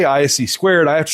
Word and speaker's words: (ISC)²: So, they just took the first letters of all the words for the company said ISC squared.